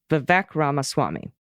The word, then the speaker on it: Vivek Ramaswamy: Republican candidate's name is vivec Rama Rama Swami Vivek ramaswamy worked with other vivex so that's for sure